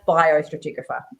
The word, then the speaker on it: biostratigraphy: also worked as a bio stratographer which I know I've pronounced wrong um which is also in the title of this episode let's get the official pronunciation from the letter yeah well how do you say that that's bio stratigraphy and that's using bio